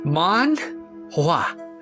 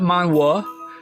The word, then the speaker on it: manhwa: First off, it's pronounced manua. Not mana, not man, just smooth mana.